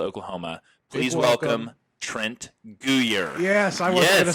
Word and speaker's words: Guyer: Please Big welcome Trent Guyer.